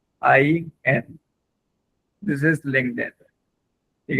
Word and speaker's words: LinkedIn: एल आई एन के ई डी आई N this is लिंक then. ठीक है? तो अभी आप जस्ट इसके स्पेलिंग्स को याद करें और दोबारा से टाइप करें चैट के अंदर ये स्पेलिंग्स।